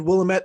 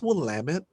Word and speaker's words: Willamette: have here uh you said willamette it's willamette okay i was just like